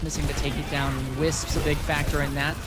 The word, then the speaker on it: WSPS: I pronounce it Wisp.